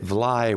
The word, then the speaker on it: Vly: It may have been that Vlaai was in the local pronunciation something more like fly.